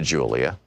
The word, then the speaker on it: Julia: I began to speak to Julia, pronounced Julia in Spanish.